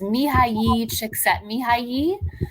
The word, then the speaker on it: Mihaly Csikszentmihalyi: I can pronounce it for you. It's Please. It's Mihaly Csikszentmihalyi, who's the father of being in a flow state.